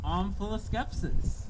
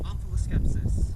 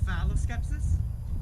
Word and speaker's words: omphaloskepsis: Your word is omphaloskepsis.